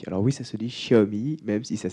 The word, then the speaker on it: Xiaomi: marketing chez xiaobo alors oui ça se dit chaabi même si ça s'écrit est remis quand on me demande ce